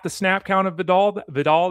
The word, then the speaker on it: Vidal: Vidal that should change or Videl I guess is how we're pronouncing it on Monday Night Football.